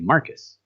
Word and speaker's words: Marcos: Just like they have a city called San Marcos, but it's spelled Marcos, but they say Marcus.